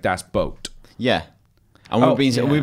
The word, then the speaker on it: Das Boot: people have all mentioned Das Boot and we're saying it wrong it's not Das Boot okay so but think of this boat when you pronounce boot like Das boat on